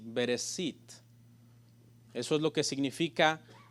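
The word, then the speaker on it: בראשית: sh y la tras la pronuncia en sí bereshit eso es lo que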